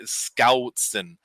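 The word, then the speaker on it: Schoutsen: He always tells me, you got to pronounce my last name like there's a G after the S. And it's hard for me to do Scoutson.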